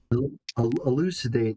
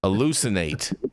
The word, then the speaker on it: elucidate: Elucidate is how you say that word, Jason. Elucinate. Got it. Elucidate. Elucidate. Elucidate. Yeah, you said I think eladate or something.